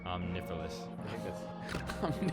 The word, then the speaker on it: Omniphallus: Omnifilous. Omnifilous is how you're going to pronounce it? Yeah. Omnifilous. It sounds a lot cooler, but spelled omniphallus.